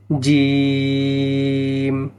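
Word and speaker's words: جيم: উচ্চারণ করে শোনাচ্ছি, জিম। মনে রাখবেন এই জিম শক্ত করে উচ্চারণ হবে। জিহ্বার মধ্যখান তার বরাবর উপরে তালুর সঙ্গে লাগাইয়া উচ্চারণ হবে জিম।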